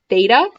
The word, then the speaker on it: theta: line through it and it's pronounced theta is frequently used for